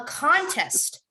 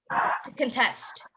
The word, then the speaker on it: contest: c-o-n-t-e-s-t yes correct yes a contest you have to emphasize and then if it's a verb i think otto said it it's um to contest a contest to contest so if i am